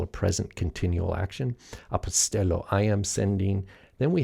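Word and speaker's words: ἀποστέλλω: says i send apostello apostello remember the accent is on the epsilon there apostello and that means i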